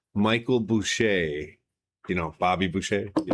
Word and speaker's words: Boucha: Uh Mr. Bush got here. That's how you pronounce it.